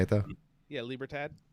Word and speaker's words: libertad: is that how you say it though yeah libra tad libertad elite labor tab or tad hey that they